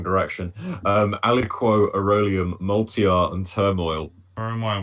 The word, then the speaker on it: aliquot: Aliquot. Saying aliquot apparently is how you pronounce it.